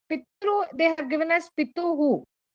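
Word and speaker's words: पितृ: Whereas in the case of Pitru, it is Rikaranta. Pitru, here it is U. Tru. Okay, Tru and Tru. We should not pronounce this as P-tru. P-tru is wrong.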